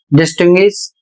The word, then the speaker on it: distinguish: इन सभी शब्दों में यू का उच्चारण किया जा रहा है, कहीं पर व का उच्चारण हो रहा है और कहीं पर या का उच्चारण हो रहा है।